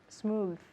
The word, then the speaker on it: smooth: okay and in English smooth very good so the important thing here is the th at the end smooth smooth okay can